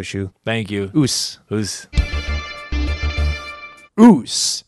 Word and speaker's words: Osu: thank you whose whose ruse is spelt OSU not spelled how it sounds but if you are